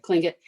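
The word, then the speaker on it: Tlingit: tribe in alaska okay cling it it it it's it's pronounced with a k but it's spelled with a t oh interesting um it's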